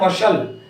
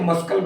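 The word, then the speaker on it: muscle: हो गया दूसरा है एम यू एस सी ल ए तो इसको हम पढ़ने हैं मसाला ना की हम इसे मस्लक पढ़ने हैं अर्थात हमारा सी जो है ये साइलेंट हो गया हम इसको पढ़ेंगे मसाला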